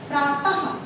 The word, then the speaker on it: प्रातः: अगला है विसर्ग के उच्चारण में हा की ध्वनि आती है, ये भी राइट है, क्योंकि आप जिस तरह प्रातः लिखें और इसको जब बोलेंगे तो प्रातः लास्ट में हा की ध्वनि आ रही है, तो आंसर सही है।